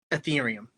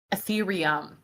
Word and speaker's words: Ethereum: Ethereum. Ethereum.